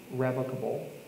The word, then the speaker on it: revocable: There are a couple of different types of trusts out there, and one of them is called a revocable trust, sometimes pronounced revocable, and the other is irrevocable or irrevocable.